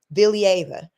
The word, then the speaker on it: Valieva: She pronounces her last name, Kamila Valieva.